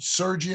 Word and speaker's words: Sergey: and uh Sergey is is it Sergey in my am I pronouncing that correct yeah yeah yes pronounce